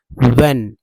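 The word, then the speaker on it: when: Word है तो व्हेन, इसमें भी एस साइलेंट है।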